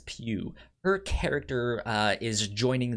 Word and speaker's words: Pugh: say her her name it is pew pew florence pew her character uh is